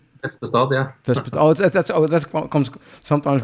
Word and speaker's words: Vespestad: The funny thing is when you speak Dutch and you would pronounce it and you see Norwegian written, I would say Vespestad, but I think it's different. Vespestad, yeah.